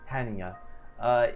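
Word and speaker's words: Hannya: the han yeah yeah it actually has the pronunciation here so it's han hanya it is a combination of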